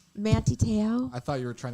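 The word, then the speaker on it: Manti Te'o: maguire there we go manti tail is that how you say his name he was the football player who was catfished he went to notre dame he was like a start manti teo i thought you were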